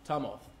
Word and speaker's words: Tumulth: My clients, in the face of disenrollment, said, we descend very clearly from Tumulth.